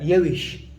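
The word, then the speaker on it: یوویشت: في الفصحى الفصحى الرئيسية الرسمية نكتب يويشت تاء بالأخير، لكن النطق قليل الأفراد، يعني في المئة 10 ينطقون التاء. نقول هكذا يوش يوش يوش يعني 21.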